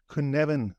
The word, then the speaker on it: Cynefin: this kuneven framework and the reason I'm trying to pronounce it that way is because I've only known it on text for for so long and the way you write it is not how I would expect you to pronounce it and I think it's because it's a a Welsh word um so but but